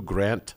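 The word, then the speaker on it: Granth: they're like oh Guru Grant sahib I was just laughing about it because I had no idea it's actually written um g r a n t h but the H is silent interesting mhm interesting yeah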